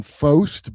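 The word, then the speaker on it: Faust: The girl's name is Lauren Fost, but it's spelled Foust.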